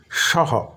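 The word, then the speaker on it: সঃ: আর সংস্কৃতে সেটাকেই বলি সহ সহ স তার সঙ্গে বিসর্গ বিসর্গ এর উচ্চারণটা আগেই বলেছি অনেকটা হ এর মতো সহ নয় কিন্তু সহ সহ এরকম অর্ধেকটা হ যেন উচ্চারিত হয় তাহলে সহ মানে সে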